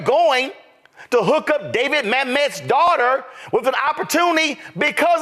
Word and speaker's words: Mamet: let's just be real David Mt I think that's how his name is pronounced is a legendary screenwriter are you trying to convince me that if your last name was mamt and you asked for